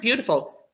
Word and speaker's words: beautiful: Think of the word beautiful.